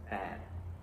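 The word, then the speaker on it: แปด: is bad. bad Bad. The What?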